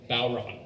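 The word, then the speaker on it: bodhrán: And it doesn't make any sense. It's spelled B O H D R A N. Bon sounds like GI in there.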